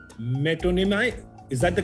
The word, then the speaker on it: metonymy: सिद्धांत ने कहा है alliteration, अनामिका ने कहा है metonymy.